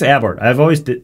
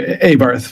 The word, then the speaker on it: Abarth: I think it's Abart. There's a model of car called an Abart. It's actually Abarth.